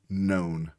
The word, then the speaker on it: known: say this word is known. It should say, but it says known. The O W should say, but it's saying O. And then the K is silent.